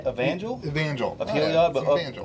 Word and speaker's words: Evangel: Angelov? Starts with an E. Evangel. Evangel?